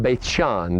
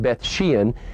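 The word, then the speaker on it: Beit She'an: is the site of Beit Shean that's the Hebrew pronunciation we sometimes call it Beth Sheehan it's also the site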